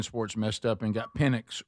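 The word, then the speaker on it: Penix: messed up and got Pennix wrong. You know, it's very close. I see some the the the person that misspoke pronounced his name with an S, not an X.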